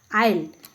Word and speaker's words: isle: Which letter in the word आइल इज not pronounce.